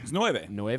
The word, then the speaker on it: nueve: nueve yeah it is the wave yeah okay so nuevo's new and nueve is nine whatever either way welcome